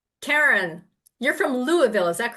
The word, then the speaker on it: Louisville: Karen, you're from Louisville. Is that correct, Dr. Dr. K? Close. It's called Yeah. Pronounce it. Lolville.